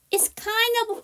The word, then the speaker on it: kind of: 강하고가 약합니다 자 그래서 아예 발음을 하지 않고 발음을 넘길게요 kind of kind of pricey 이렇게 해주시면 됩니다 자 오늘 진도는 여기까지